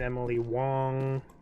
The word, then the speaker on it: Emily Wong: I did not run around that spot behind Emily Wong that's how you pronounce her name I also didn't come up